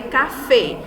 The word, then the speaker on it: café: Então, nós temos exemplo aí, café. A última sílaba mais forte, ela é acentuada, né?